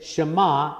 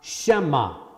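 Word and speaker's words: שְׁמַע: we make that mistake they enlarge the eye in to make sure that you said shama and not shema so you pronounce it correctly again at the very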